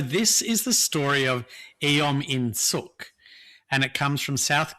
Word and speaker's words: Eom In-suk: So it's EOM. EOM. In like the English word in, but with a capital I. Yeah. And suk like wah. Yeah. But with a capital S. Yeah. Right. Eom In-suk.